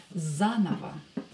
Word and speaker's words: заново: Here you can see that I pronounce this O and this O as A because they are not stressed. Заново.